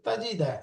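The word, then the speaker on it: تجد: এরপরে আছে তাজিদা, এই শব্দটার বানান করেন। 4 নাম্বার। তা ফাথা তা, জিম কাসরা জি, তাজি, দাল ফাথা দা, তাজিদা, মাশাআল্লাহ। তাজিদা, তাজিদা, তাজিদা।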